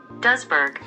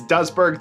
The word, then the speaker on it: Duisburg: a town called Duisburg, which according to Google, that is how you pronounce it. Duisburg. So we'll go with it. So it's Duisburg, the Netherlands, taken on